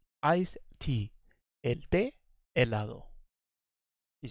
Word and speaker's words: helado: going to be iced tea Oh el de helado iced tea ed de helado you say el a a lado l pay